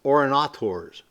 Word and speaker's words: urinators: It's spelled urinators, but it was pronounced orinators.